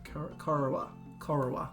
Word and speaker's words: Corowa: Alright, so let's go Manus, Cowra, Corowa. That would be how you pronounce that. Corowa into Bundabar.